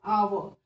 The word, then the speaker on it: hour: Hour is, when we are writing hour, we use H first alphabet as hour, but when we pronounced hour, we used H as silent.